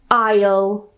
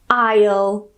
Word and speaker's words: isle: So, the first one I want to talk about isle isle. The second one I want to talk about is isle. They're pronounced exactly the same despite having different spellings. So, both of them are the same pronunciation. They both have a silent s, but they're two completely different words.